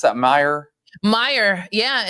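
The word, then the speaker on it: Meijer: Did you pronounce that? Meyer.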